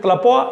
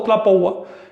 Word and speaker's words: tlapoa: Y se forma de tlapoa, del verbo tlapoa o tlapoua, da igual que pronuncies tlapoa o tlapoua, que quiere decir calcular.